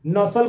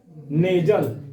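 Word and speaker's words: nasal: तो इसी को क्या बोलते हैं नेजल ऐसे लिखा हुआ है एन ए एस एल नसल कोई बोलता है कोई नकिया फु लाता है तो इसको नसल कोई बोलता है लेकिन उसका शुद्ध जो उच्चारण होगा तो कौन क्या नाम होगा नेजल कितनी संख्या होती है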